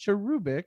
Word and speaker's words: cherubic: and uh i go cherubic but i know it's pronounced cherubic it's supposed to be like emphasis on the oo never like the oo